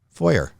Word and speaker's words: foyer: This is our foyer. Foyer? It's pronounced foyer, by the way.